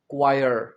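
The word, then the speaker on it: choir: इसका प्रोनंसिएशन है क्वायर।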